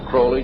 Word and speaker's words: Crowley: about was Alistair Crawley he likes to have his name pronounced Crowley to rhyme with holy and uh the satanists